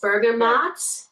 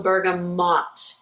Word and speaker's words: bergamot: anyway you got it it's bergamot it's spelled with a ma a T sound or also bergamot MOT with that kind of a sound so both of those are completely acceptable Thank You Man no